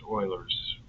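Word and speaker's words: Euler: It's spelled Uler, but it's pronounced Oiler again French. And I would say, uh, do we do we use Uler's method? He's It's pronounced Oilers.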